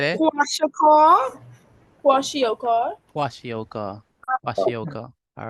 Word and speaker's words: kwashiorkor: How do we pronounce that? We missing protein. Kawashiko. How when you missing protein in your diet? What? Kwashiorkor. Someone said it. Kwashiorkor.